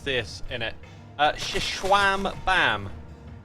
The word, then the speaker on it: Xisumavoid: Shishwam Bam is the way to pronounce it. Shishwam Bam.